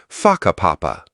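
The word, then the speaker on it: Whakapapa: You'll hear locals casually talking about places like Waka Papa, pronounced Faka Papa.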